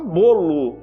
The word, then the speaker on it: bolo: não tem no texto bolo escreve com o mas a gente fala bolo com u a gente não pronuncia bolo a gente fala bolo Ah ele comeu o bolo fica com som de u a palavra carro muitas